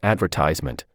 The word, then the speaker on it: advertisement: From the above question, I will choose A, because in the word advertisement, the stress is on the third syllable.